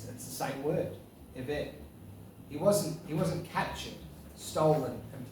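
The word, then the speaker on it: עבד: So if you watch this, Karen, okay, I still remember that's the correct way to pronounce the word eved.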